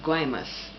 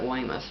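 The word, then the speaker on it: Guaymas: are you in uh guymus they pronounce it weimasu but it's g-u-a-y-m-a-s and it's north of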